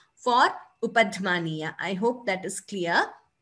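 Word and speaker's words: upadhmānīya: Visarga followed by pa is what we call upadhmaniya. We wouldn't say it is F sound. What is actually happening is we are expelling the air and closing the mouth immediately.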